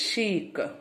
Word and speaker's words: chic: How you have to pronounce? Chic.